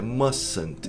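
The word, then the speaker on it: mustn't: E a pronúncia é esquisita, é musant. Esse t desaparece.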